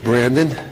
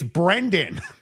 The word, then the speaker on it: Brendan: So I was very happy to have this day in court for Brandon. He deserves to have you say his name right, Dick. It's Brendan.